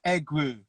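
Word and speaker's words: Egwu: what it is yeah it's egg woo egg egg egg as an egg and then woo as in w w u say oh okay so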